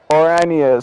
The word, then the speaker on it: Oranje: I'm trying to say Oranje. So I know in Dutch, orange is spelled with a J, and I wanted to say it the Dutch way.